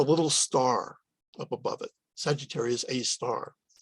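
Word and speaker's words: Sagittarius A*: star up above it sagittarius a star is how it's said and the location of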